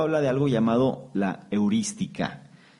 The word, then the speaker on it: heurística: se le conoce como heurística. Heurística, con H y con acento en la primera I.